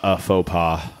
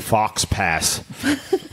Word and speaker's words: faux pas: you you must go now that's a big faux pas oh I'm sorry a big Fox pass white sari we're not saying thanks pretentiously right